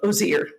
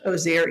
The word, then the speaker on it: Osir: And that was the first temple we went to when we went to Egypt, was the temple of Osir. That's his correct pronunciation. Osir, yes.